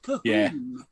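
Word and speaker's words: Colquhoun: He filled in for Joe Cahoon. Yeah. Yes, Oh, that's okay. how it's pronounced. Cahoon.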